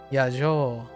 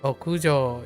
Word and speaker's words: 屋上: Yajo. No yajo. 屋上 Okujo, yeah.